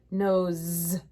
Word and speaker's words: nose: Nose. You know what? I'm going to put down a Z because it sounds like a Z.